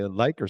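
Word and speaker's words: Likert: scale yeah oh this lier scale you have to also careful with the pronunciation because many people pronounce as a scale but scare is like your level of your alcohol level if you say my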